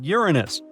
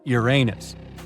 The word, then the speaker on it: Uranus: Actually, astronomers say we should be pronouncing it like Uranus, not Uranus.